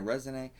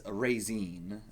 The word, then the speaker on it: Resine: I would assume Razine if it's a Japanese name, but yeah, I looked it up, figured it would probably be a French thing. It's Razine, would be how you pronounce it specifically.